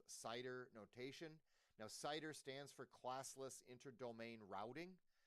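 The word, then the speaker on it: CIDR: called Cider notation now cider stands for classless interdomain routing c d r and we pronounce it cider like apple cider notation here works like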